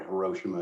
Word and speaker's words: Hiroshima: it is that there's a countdown to Hiroshima, or Hiroshima as you pronounce it.